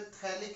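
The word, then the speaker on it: phthalic: COOH इसको बेटा थैलिक acid बोलते हैं। क्या बोलते हैं? थैलिक, PH, थैलिक acid. PH बेटा साइलेंट रहता है।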